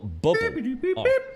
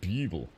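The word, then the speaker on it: Bublé: a s right there called Michael bubble pronounced it Michael Buble and he's the creepiest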